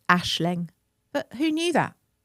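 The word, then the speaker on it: Aisling: I think that's a little You pronounce it Ashling.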